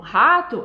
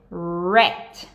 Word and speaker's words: rat: E você vai fazer um biquinho com a boca, ok? E a língua, ela não toca em nenhum lugar dentro da boca. Isso é muito importante. Então, quando a gente vai fazer o R, então, por exemplo, rato, a gente vai fazer rat. Percebam, eu tô fazendo biquinho e, lógico, não dá pra vocês verem, mas a minha língua está enrolando atrás. Então, ela tá fazendo rat, ok?